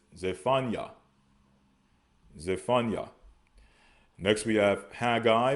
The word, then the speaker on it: Zephaniah: Next, we have Zephaniah, which we pronounce as Tazapanya. All right. Tazapanya. They pronounce as Zephaniah.